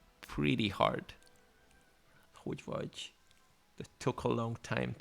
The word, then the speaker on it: hogy vagy: Yeah, because the G sound, the G and the Y together is G, which is, yeah, it's pretty not something that you would definitely hear in English, for example. Like, but it's the G sound is just nothing really like we have in English. For example, if you say Duke, it's the beginning of the DU. The Duke is something similar, but not the same.